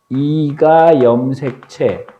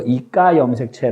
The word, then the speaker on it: 2가 염색체: 요 모양을 뭐라고 뭐냐면 이가 염색체 가끔 발음을 세계에서 이까 염색체 라고 하기도 하는데 이가 염색체 들으니까 염색체가